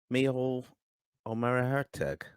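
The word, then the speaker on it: Micheál Ó Muircheartaigh: Michael Omerhertug.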